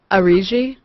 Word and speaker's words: Auriga: Pronunciation? Auriga?